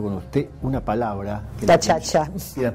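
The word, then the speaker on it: gacaca: Yo mencioné hace un ratito hablando con usted una palabra que Gachacha. Yo dije, porque está escrita G-A-C-A-C-A. Sí, gachacha es como la pronuncian.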